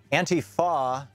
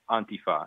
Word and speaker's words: Antifa: Well, the point is that the emphasis is on the beginning.